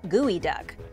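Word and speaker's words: geoduck: has to be good it's spelled like geo duck but it's pronounced gooey duck when you first lay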